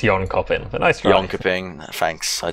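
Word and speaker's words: Jönköping: Dream Hack Summer in Jonaping. I hope I'm pronouncing that correctly. Yeah, it's Yon Copen.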